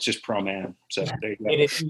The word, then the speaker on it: Proman: We're very, very happy to receive Promann this week. How do we pronounce it, actually? It's Proman.